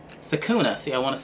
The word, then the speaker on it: Sakuna: Sakuna. See, I want to say Sakura.